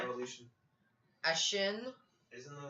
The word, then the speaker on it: Ashen: Ashin. Isn't it like? Is that how you say it? Yeah, Ashen.